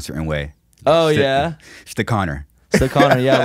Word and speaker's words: Stechauner: do you know how to pronounce my last name is it it's the connor yeah damn i don't know if you've heard